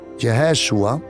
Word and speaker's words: Yeshua: impresionante su nombre es yeshua en hebreo o mejor dicho jeshua porque así se pronuncia yeshua es un disminutivo